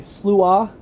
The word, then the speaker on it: Sluagh: It's Celtic. And you say Sluagh, Sluagh.